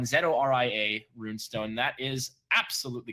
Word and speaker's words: Zoria: Well, Zoria or Zoraya is. You're right. It's tough to actually figure out the pronunciation of it. I apologize to all those mythical, ethnicities that might think that I'm being racist to the pronunciation of these fictional characters. Nonetheless, Zoraya is the correct one.